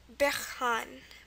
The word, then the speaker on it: bergaan: So we have our double A there, and our N just to finish it off. Okay, so that's bergaan, bergaan.